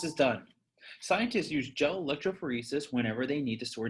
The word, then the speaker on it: electrophoresis: touch them there is it's called gel electrophoresis pronounced electrophoresis hey guys i'm gonna back up for just